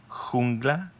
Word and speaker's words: jungla: Mi animal vive en la jungla. The J in Spanish sounds it's a really strong H that you actually make with your throat, not with your stomach, like the H.